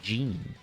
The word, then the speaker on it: Geene: I always hear gin, but that should be pronounced Geene.